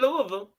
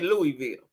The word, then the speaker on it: Louisville: Well, you know, your peoples is down there in Louisville. Now, we say Louisville. But they say Louisville. I think that's how they say it, Louisville.